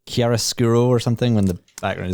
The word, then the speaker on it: chiaroscuro: Like chiaroscuro or something when the background is... yes, totally chiaroscuro is the...